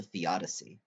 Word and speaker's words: theodicy: That's called a theodicy. Yeah. Theodicy. Yeah. Sounds like the Odyssey.